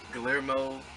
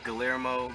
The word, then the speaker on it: Guillermo: Guillermo del Toro. Is that how you say it? Guillermo. Guillermo? Guillermo.